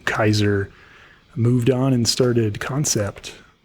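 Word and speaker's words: Kansept: moved on and started concept it's spelled k-a-n-s-e-p-t it's I for years called It Can sept didn't right it was concept it's just doesn't really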